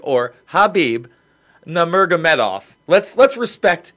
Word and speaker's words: Khabib: disrespect first of all the man's name is pronounced either Habib or Habib Nomura Medoff let's let's respect the champion the